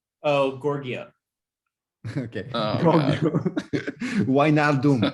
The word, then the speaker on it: Wijnaldum: Wijnaldum. It's Wijnaldum, apparently.